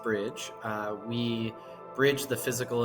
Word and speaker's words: BRDG: explore our world further brdg or as it's pronounced Bridge uh we Bridge the